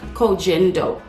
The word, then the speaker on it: Koh Gen Do: the corgindo aqua foundation i think i'm pronouncing it right when i say clogging dope although i see being pronounced as cogendo which could be right but i think it's kogendo this is a japanese